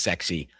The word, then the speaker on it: SCSI: drive, but there were people in Silicon Valley that were trying to say it should be pronounced sexy.